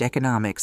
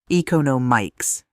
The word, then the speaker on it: economics: You were reading me the newspaper and you mispronounced economics the same way you used to. Eon no mics instead of eco no mics.